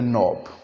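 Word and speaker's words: knob: हैं इट इज़ ए नॉब। नी, तो जहाँ पे KN आएगा वहाँ पे हम K को प्रोनाउंस नहीं करेंगे।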